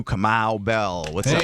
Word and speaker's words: Kamau: Nice pronunciation. That was good. Why people butcher it? No, of course. He really hit it. He was like I know there's no L at the end.